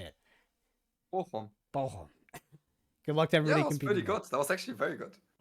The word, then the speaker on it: Bochum: Bochum.